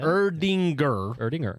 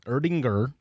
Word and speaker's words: Erdinger: I'm too much melanin in my skin to pronounce that. Help me out. The Erdinger Oktoberfest? Oktoberfest I can do. Weissbrau? Yeah. Erdinger. Erdinger.